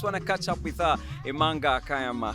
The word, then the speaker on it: Imanga Kayama: and we just want to catch up with Amanga Kayama how are you hi Jali I'm good how